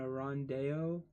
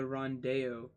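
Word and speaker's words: rondeau: Ballad is spelled B-A-L-L-A-D-E. Ballade. A triolet, T-R-I-O-L-E-T. And a rondeo, R-O-N-D-E-A-U.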